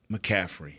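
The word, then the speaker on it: McCaffrey: of people think is once you get past mcaffrey is I'm pronouncing that right yes don't y'all think that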